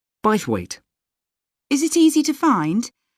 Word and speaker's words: Bythwaite: free and the show is being held in bythwaite hall sorry how'd you spell that b y t h w a i t e by the wait is it easy to find i'm not very